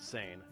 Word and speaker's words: seine: that time peran fishing yes we pronounce it San was the main fishing method